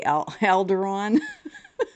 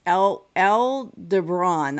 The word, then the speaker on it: Aldebaran: we had the and I want to say Alderon. I know that's not how you say it, but as a Star Wars fan, I keep wanting to call it Alderon.